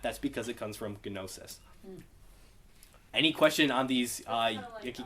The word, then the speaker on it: gnosis: However, notice how there's that gamma there. So, in Greek, they would pronounce it as gnosis. But we don't really like that. That's like saying gnat. Doesn't quite sit right. That's not how you were